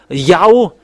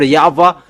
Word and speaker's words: Yahweh: How to pronounce this W? Is it Yahwa or Yahoo or Yava? And we know that it's Yava who takes people away from SIS. because you people were looking for explanation and it's that's why we look for their uh in uh this uh incyclopedia with we keep it their in Jewish they pronounce W into V and that has been